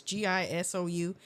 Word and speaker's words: Gisou: Now, I do see that Gisou or Jisoo, however you pronounce that, it's Gisou.